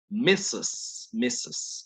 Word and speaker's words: Mrs.: Pero la abreviatura es con una R. Sin embargo, noten que esa R no se pronuncia, ¿sí? Mrs.